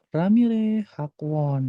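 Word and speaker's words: 라미래 학원: Ejaannya adalah Ra, Mi, Re. Ramire ya. Ramire, terus Hakwon. Hak sama Won. Nah, Ramire Hakwon.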